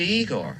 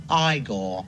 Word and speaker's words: Igor: You must be Igor. No, it's pronounced Igore.